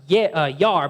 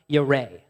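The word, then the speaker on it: ירא: It looks like it's pronounced yar, but it's actually pronounced yareh.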